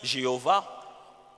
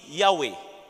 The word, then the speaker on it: Yahweh: Certains disent Jéhovah, pendant qu'en hébreu, il n'y a pas de J. Leur J, c'est l'Y. C'est pourquoi on préfère plus la tendance qui dit Yahweh et non Jéhovah. Yahweh.